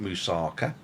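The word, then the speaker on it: moussaka: to do musaka and how to pronounce it musaka not musaka musaka and galactus which he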